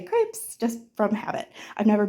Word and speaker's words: crêpe: I'm going to be making crepes and the French pronunciation for that is more like crepe. Um the s is silent even if it's plural when it's French.